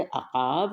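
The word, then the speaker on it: عقاب: अक़ाब, अक़ाब, आइन से अक़ाब, और आइन सबसे पहले है इसमें, आइन क़ाफ़ अलिफ, अक़ा, और ये बे जो है ये साइलेंट है या साकिन है, बे साकिन, अक़ाब, इसको ऐसे पढ़ेंगे।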